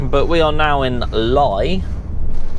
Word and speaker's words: Lye: But we are now in Lye. I believe it's pronounced Lye, L-Y-E.